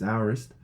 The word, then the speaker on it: aorist: I don't know how people pronounce it in their different place, but over here it's aorist.